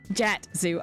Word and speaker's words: Jatsu: It's Jatsu. Okay. Kind of like Batsu. But Jatsu.